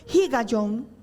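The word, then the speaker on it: הִגָּיוֹן: acompañado de un término muy importante que se pronuncia como higayon, que tiene que ver con meditar.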